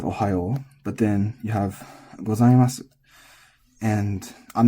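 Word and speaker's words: ございます: But what you also are going to need to know is that the su at the end of this typically does not have the vowel pronounced. It's normally not gozaimasu, it's normally gozaimasu.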